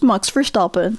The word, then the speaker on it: Max Verstappen: This F1 race is starting and I'm predicting Max Verstappen is going to come in last place. Max Verstappen? Sorry. As a Dutch person, it's just funny to hear how other people pronounce it. It's Max Verstappen.